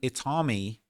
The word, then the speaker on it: IT4MI: This character is called Itami. It's spelled it T4MI, which kind of follows the the pattern that David established with the way that he spells his name, D4V.